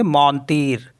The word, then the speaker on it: mentir: MENTIR, तो इसको पढ़ेंगे हम मौनतीर, तो जो लास्ट का जो आर होता है उसको पढ़ते हैं हम, तो इसलिए इसको पढ़ेंगे मौनतीर, तो मौनतीर मिस होता है टू लाई।